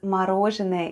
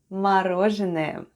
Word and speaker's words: мороженое: This time it's stressed and is pronounced as o.